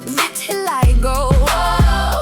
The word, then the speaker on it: vitiligo: If you can't pronounce it, it's pronounced vitiligo.